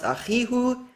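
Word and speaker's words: אחיהו: no dispute that the original form is pronounced Achihu, and that needs to contract to Achiu.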